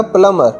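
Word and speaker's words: plumber: अब इसमें एक चीज़ का आपने ख्याल करना है कि बी जो है वो साइलेंट है तो ये बनेगा प्लम्बर, प्लम्बर।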